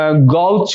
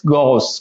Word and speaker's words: gauche: अब इसको वैसे तो गौच, गौच बोल सकते हो आप, गोच बोल सकते हो, लेकिन ये रॉन्ग है, ठीक है ना। तो इसका जो करेक्ट प्रोनाउंसिएशन होगा वो क्या होगा, देखिएगा, GOSH, गॉस, क्या बोलेंगे, गॉस, ठीक है ना। से English word go, then quickly add क्या, SH, यानी पहले तो हमें गो बोलना है क्विकली, यानी थोड़ा सा